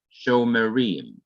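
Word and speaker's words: שׁוֹמְרִים: m sho marie and so you pronounce this simple shiva because before it immediately before it is a long vowel so after a long vowel the shawa is vocal that is it is to be pronounced chauffeuring when two shawas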